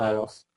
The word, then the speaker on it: Kalos: So Carlos. Pronounce it now like Carlos Santana.